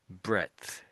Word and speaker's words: breadth: That's the same or similar meaning breadth. Breath. Breath. What breath? I'd I'd say you're missing out the D often as not. So, it's almost as if I suppose I'm I am saying bread.